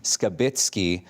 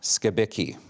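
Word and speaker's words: Skibicki: the court proceedings that he pronounces his name Jeremy scabbit not scabi so we'll be using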